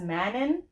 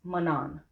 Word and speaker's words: Manon: So, guys, her name is pronounced Manon.